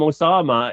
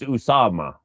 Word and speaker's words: Usama: That's why I'm saying to call him Osama is a distraction because his name's Usama.